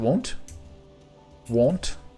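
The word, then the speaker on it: wont: are want to do how do you pronounce that w-o-n-t like he's wanting to do such a thing is it won't won't one of those words you only read never hear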